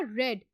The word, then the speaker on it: read: Spelling same होंगे past में और फ्यूचर में, लेकिन इसको पढ़ा किस तरह जाएगा, रेड। READ, रेड पढ़ा जाएगा किस तरह, रेड की तरह, RED की तरह।